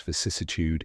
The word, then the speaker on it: vicissitude: in the middle and ends with tude like attitude now you can confidently use vicissitude in conversations thanks for